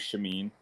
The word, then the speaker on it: Shameen: name so yeah uh no you you pronounce it right uh my name's shameen so uh i wanted